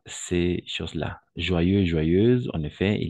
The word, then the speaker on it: joyeuse: Au niveau de la prononciation, O plus Y, on va toujours prononcer comme un oie.